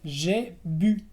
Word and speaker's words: j'ai bu: O el verbo también, como dijiste, boire, que es beber, j'ai bu. J'ai bu, también con la U francesa.